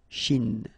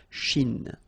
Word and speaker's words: Chine: Remember, don't insist on the E. Chine. Okay? And then this CH, sh, Chine.